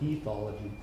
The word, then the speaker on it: ethology: of what is called ethology? Does everyone know what that word means? Looks like I always pronounce it ethology, E-T-H-O-L-O-G-Y, but apparently, at least my dictionary says you say ethology.